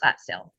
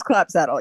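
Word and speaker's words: Clapsaddle: Do I have someone here on behalf of the defendant, Stephanie Clapstill? Yes, Your Honor. Oh, I'm sorry. I realize, am I saying your name wrong? It's Saddle. I'm so sorry. It's clap saddle.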